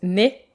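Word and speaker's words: ναι: Grecs dans les églises car en grec oui se prononce né alors qu'en bulgare né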